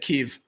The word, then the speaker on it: Kyiv: Kyiv, and it responded to me and said Kyiv. Impressed with Google. Somebody made sure Google knew the right way to pronounce it.